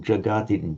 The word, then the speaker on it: jagati: Now, others made the mistake of lengthening that ah where my cursor is, but you lengthened that ah a little bit. Is it jagati, jagati, jagati?